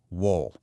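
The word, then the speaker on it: 월: It's pronounced wool, and it just means the moon.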